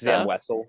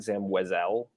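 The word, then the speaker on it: Zam Wesell: It's Zam Wessel, not Zam Wesel.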